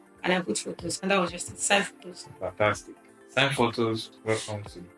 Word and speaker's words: SignPhotos: Did I pronounce SignPhotos well?